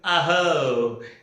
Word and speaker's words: abhor: There is no B pronounced here. It is called as abhor.